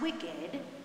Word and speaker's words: WCKD: Because these young people are immune, the World Catastrophe Kill Department, WCKD, pronounced wicked, quarantines them with the